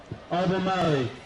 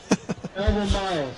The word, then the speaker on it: Albemarle: Now in the medals, third place, women's junior, Albemarle. Albemarle, sorry. Not good on pronunciation.